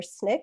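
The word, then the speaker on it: SNCC: they're so special dandelion was the first staff photographer for snick which is how you say the acronym for the student non-violent coordinating committee which is a civil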